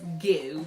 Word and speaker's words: Geaux: So I like Creole, and it's not spelled go as in G-O, it's Geaux as in G-E-A-U-X.